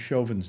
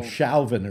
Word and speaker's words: Chauvin: the the prosecutor would pronounce chauvin's name correctly uh they call him shalvin or something like that you know and i'm